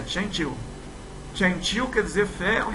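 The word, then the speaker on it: 针灸: A pronúncia é Qianqiu.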